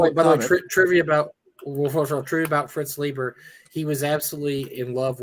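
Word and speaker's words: Leiber: Fritz Lieber. Yes, it was. I think it's Liber, actually. I think it's how you pronounce it.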